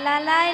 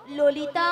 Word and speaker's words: ললিতা: লালাই ললিতা বলে লালাই লালাই ললয় ললয় লালাই লালাই ললিতা মাসি কি ওটা লালাই লালাইও নয় হ্যাঁ। আর ললয় ললয়ও নয় আরে বল ডালে বলো ললিতা লো লো লো লো বলো ললিতা ভালো করে উচ্চারণ করো থাম